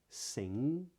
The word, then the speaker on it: sing: isn't pronounced right so if I said sing the G isn't pronounced but when I say